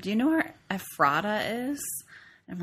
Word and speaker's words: Ephrata: for Poor Man's Brewing, which is out of Ephrata, Pennsylvania. Yes. There's a little behind-the-scenes joke going on where I mispronounced the name of the town initially to Ephrata.